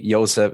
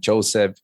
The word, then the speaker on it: Yosef: in the Bible right the JS are also pronounced like why similar to Hebrew yes yes so it's like literally ysep is ysep not Joseph you know Rahel instead of Rachel uh Johan